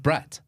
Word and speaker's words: Brut: the green can uh spelled b r u t got it okay so exactly how did you just pronounce it the way you pronounce it Bret Bret so I say this to very good friend cousin Lou Lou Louie and he laughs he says I love the way you always called it brat I'm like but that's